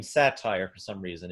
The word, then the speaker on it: Satyr: I keep calling your last name Satyr for some reason. Is it pronounced Satyr? And technically, I am but a satire of everything, really. But yes, it is Satyr, like the mythological creature.